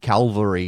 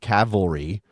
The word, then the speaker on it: Cavalry: mispronunciation last time because I said Calvary instead of Cavalry yes I know those